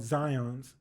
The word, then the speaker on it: Zions: true yeah and so there's this one bank in utah where they pronounce it a certain way so it's called zions or zion sorry they call it zions but i call it zion because they spell it like zion williamson so i was helping